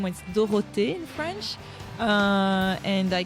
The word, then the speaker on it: Dorothee: came to the US and my name was dorot in French uh and I came and it's